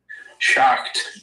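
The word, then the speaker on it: Schacht: Shocked. Okay, if you can spell that for me.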